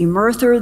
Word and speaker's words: Emerther: that lists 5 alleged alien races that include EMERTHER, apparently pronounced Emerther.